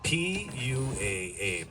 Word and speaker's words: pua: P U A.